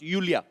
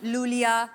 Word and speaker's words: Iulia: यूलिया आपका नाम basically यूलिया। यू यू yes. Pronounce यूलिया। यूलिया। एंड the spellings are आई यू एल आई ए। सो आई आई। You know I mean why I. Everyone is calling me लूलिया लो।